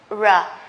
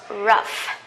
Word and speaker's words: rough: the same rou here but it is not pronounced ra it is pronounced rough rough okay rough that means we usually talk